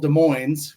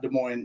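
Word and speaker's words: Des Moines: Yeah, we we we grew up in a town called De Moines. We pronounced the S there. Not De Moines like De Mo, Iowa.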